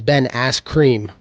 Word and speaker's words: Ben Askren: Oh, you said his name backwards. You said it wrong. It's Ben Askren.